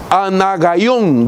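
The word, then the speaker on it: ἀνάγαιον: Es una palabra griega que se pronuncia de dos maneras. Una de ellas es anogeón o anagaión.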